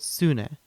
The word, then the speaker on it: Sune: will be using an algorithm called sune pronounced sun e it's a swedish name now there are many